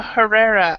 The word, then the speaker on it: Herrera: e r r r e r a a Herrera okay I was here I heard something completely